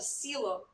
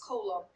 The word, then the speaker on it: coelom: it was called a coelom, even though it looks like it should be pronounced colum.